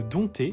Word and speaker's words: dompter: L'Académie devrait supprimer le P de dompter, lettre qui ne se prononce pas, qui n'est pas étymologique